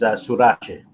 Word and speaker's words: Surace: And the pronunciation of the surname is Surace.